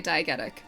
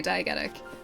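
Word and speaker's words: diegetic: My university uh tutors would always say diagetic, which is why I say diagetic, but I've heard both. So, I wonder if that's just kind of both are accepted pronunciations.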